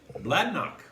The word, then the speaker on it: Bladnoch: scotch no do uh even know how to pronounce it blad knock blood knock that simple huh it is a one